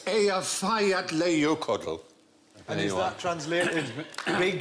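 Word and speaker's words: Eyjafjallajökull: Yeah, and I think actually the way you're supposed to pronounce it is Hutch. If only. It changes it. Apparently, it's Ea Fayat Leiokodl.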